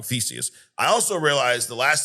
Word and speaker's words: Theseus: He introduces um a a logic paradox the ship of Theseus or some Theseus. Theseus. Yeah, I realized I was saying it wrong, Theseus.